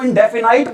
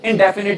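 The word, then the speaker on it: indefinite: लेकिन कई लोग बेटा स्पेलिंग के अकॉर्डिंग इसको इंडेफिनाइट बोल देते बेटा, लेकिन आपने इसको इंडेफिनाइट नहीं बोलना। क्या बोलना है बेटा? आपने इसको इंडेफिनिट ही बोलना है।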